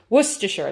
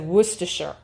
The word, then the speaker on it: Worcestershire: that and they said worcestershire is how you pronounce it um and so it's like it looks like it should be way longer but that's what it is worcestershire so there you